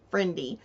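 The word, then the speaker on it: frindy: it's spelled f r i n d y friendy which rhymes with Wy and friendy means strange or weird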